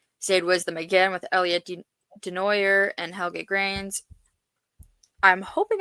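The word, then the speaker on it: Desnoyers: Zade Wisdom again with Elliot Denoer and Helgate Grains. I'm hoping I pronounced that right, but it's okay. Um, I'm actually very surprised with Zade. It's Denoier apparently.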